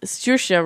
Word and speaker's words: Saoirse: Saoirse Ronan. I can't. Oh, thank you, because I was totally going to butcher that name. Saoirse Ronan. Saoirse like a nurse shot.